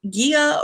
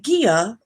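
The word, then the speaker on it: Gila: near its confluence with the guia river i think that's how it's pronounced g-i-l-a there it is in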